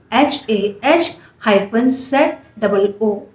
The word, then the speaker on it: Hazu: इस सिंबल का नाम है काइंडनेस और शिवो में इसे ट्रांसलेट किया गया है हजू से HAZU और प्रोनाउंस किया गया है HAZU HAH-ZOO HAZU और इसका कलर जो है वो है पिंक।